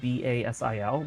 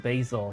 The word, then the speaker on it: Basil: I think his name was spelled B-A-S-I-L, but instead of Basil, he pronounced it Basil.